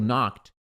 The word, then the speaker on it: knocked: Knocked termina com ed, tem som de T.